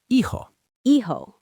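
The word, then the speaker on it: hijo: Son is ehoho. That age is silent. Always silent.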